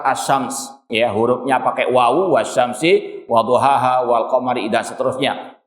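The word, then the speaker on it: وَالشَّمْسِ: Ada kata benda setelahnya yang kasrah, wasyamsi. Bacanya nggak mungkin wasyamsu karena ini sumpah. Wallahi, bukan wallahu. Ini redaksi sumpah dalam bahasa Arab.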